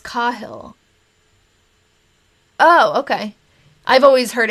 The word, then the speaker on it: Cahill: But I think that at least Cahill is pronounced Cahill.